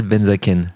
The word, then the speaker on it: Benzaquen: Et aujourd'hui, je suis avec Benzaken, je prononce bien ? Benzaken.